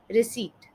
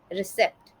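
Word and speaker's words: receipt: आज का आखिरी शब्द है रिसीट। रिसीट का गलत उच्चारण कुछ इस तरीके से सुनाई देता है, रिसेप्ट, रिसीप्ट। बट इसका सही उच्चारण कुछ इस तरीके से है, रीसीट, रीसीट।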